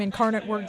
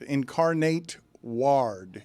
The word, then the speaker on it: Incarnate Word: say anything nice about Incarnate Word I simply pronounced the name Incarnate Word correctly so we got hats because of that okay excellent thank you uh for the contribution I still can't pronounce it incarnate Ward is how I pronounce it no that's a